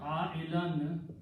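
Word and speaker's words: عائلاً: And the word ailan means needy person. Okay. Needy. Ailan means someone who is needy, and whenever you have two fathahs, we always write an extra alif, which is not recited.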